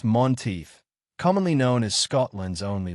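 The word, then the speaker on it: Menteith: The Lake of Monteith, pronounced Monteith, commonly known as Scotland's only lake.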